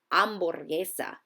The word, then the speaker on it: hamburguesa: The letter H, when seen in a Spanish word, is silent. Here are a few examples. Ice cream is helado, ice is hielo, and a hamburger is an hamburguesa.